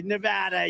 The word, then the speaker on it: Nevada: we love it and you always have to say it correctly Nevada you Ain got to call it Nevada with thousands of proud